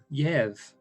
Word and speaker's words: Jerv: This Jerv. Yev. Jerv. Yev. So the D is silent. The D is silent. Okay. He's a silent D.